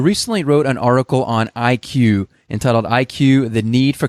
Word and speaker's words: iQIYI: appreciate, and that's specifically, how do you appropriately pronounce the name of this company? Well, I'll call it the iQIYI, but for the convenience of us in this